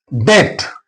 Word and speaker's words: debt: B will remain silent. For example, doubt. D O U B T which is silent letter here. B is silent. Doubt not doubt. Debt, not a depth. Here is silent.